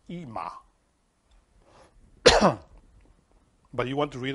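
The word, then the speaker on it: אמא: that is called ima sometimes we call it aima because there is literally left there in the world but really in hebrew is is named is pronounced ima but you want to read all the letters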